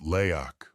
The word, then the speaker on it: Leak: This is where the legend of the leak, pronounced leak, was born.